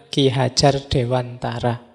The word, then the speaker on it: Ki Hadjar Dewantara: Kalau dibaca Jawa ya. Meskipun banyak yang membacanya Ki Hadjar Dewantara. Tidak apa-apa, monggo saja. Yang penting yang dimaksud ya beliau. Baik Ki Hadjar Dewantara atau Dewantara. Meskipun ini dialeknya harusnya dialek Jawa.